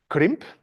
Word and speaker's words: krimp: I mean, perhaps you don't have the rolling R like I do, but that doesn't matter, right? I mean, crimp is also fine.